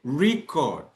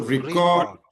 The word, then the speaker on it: record: These words look the same but sound different because of the stress pattern that falls on the first syllable if it is a noun and on the second syllable it is a verb.